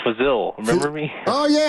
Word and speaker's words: Fazil: It's Fazil. Remember me? Oh, yeah. Fazil. How you doing? Rhymes with Brazil.